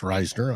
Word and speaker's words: Risner: for the first time Dalton Risner Ryner it's pronounced Ryner I've been corrected um he's starting at